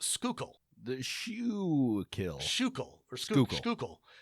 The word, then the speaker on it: Schuylkill: Schuykill, and it's pronounced Schuylkill. The Schuylkill. Schuylkill, or Schuylkill. The OO is pronounced like you would with food or ooze, so Schuylkill.